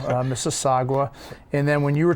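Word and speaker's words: Mississauga: lawyer call me okay apparently pronounce that mississagua okay silent W mississagua and then when you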